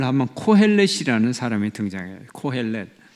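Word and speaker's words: קֹהֶלֶת: 빠져 들어간다 그래서 전도자 라고 번역을 했는데 원어로 발음을 하면 코헬렛 일하는 사람이 등장해 코헬렛 2 코 ls 너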